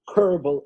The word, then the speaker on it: Kerbel: Ronen Kerbel, everyone knows that's the way it's pronounced, son of Uri Kerbel and Michelle Kerbel.